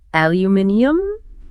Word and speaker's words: aluminium: I always thought the British just added an extra syllable to sound a bit fancier. Aluminium has a certain ring to it.